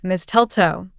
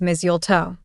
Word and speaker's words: mistletoe: Most people pronounce it like mistletoe, but that's actually wrong. The correct way to say it is mistletoe. The T in the middle is soft, almost like it's not even there.